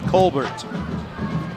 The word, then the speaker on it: Colbert: one yeah that's right colbert i'm not going to give it some pretentious french sounding pronunciation colbert kind of like nate colbert used to be uh